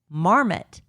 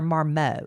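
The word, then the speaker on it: Marmot: favorite brands, including Patagonia, Arcturix, the North Face, Marmmet. Is it Marmmet or Marmo?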